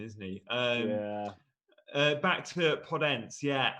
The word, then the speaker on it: Podence: Back to Podence, yeah. Annoyingly, there's no accent on the E, so I might have to revert back.